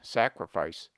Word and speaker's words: sacrifice: We pronounce sacred with A long, sacred, but the derivations are properly pronounced with A short, sacrament, sacrifice.